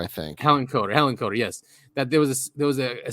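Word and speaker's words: Hillenkoetter: Hillenkotter, I think. Hillenkotter, yes.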